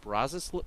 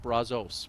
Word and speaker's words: Brazos: The Brazos River, I believe is how it's pronounced. We had to look that up. I always went with Brazos, but apparently it's not pronounced that way.